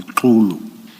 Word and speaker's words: Xulu: Commissioners, this gentleman, let me pronounce it properly, Xulu, he is working, according to my information, he is deployed in the KZN area.